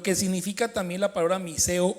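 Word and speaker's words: μισέω: La palabra aborrecer aquí es una palabra griega que traduce o se escribe como miseo, M-I-S-E-O, miseo, y significa, párenle olas, amar menos, vacío, sin amor.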